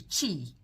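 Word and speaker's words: qi: The chi. The chi. It's spelled Q I.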